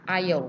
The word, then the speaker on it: Isle: Jadi kan bacanya kan A, Isle, makanya the-nya itu dibaca jadi D.